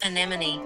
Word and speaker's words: anemone: Anemone.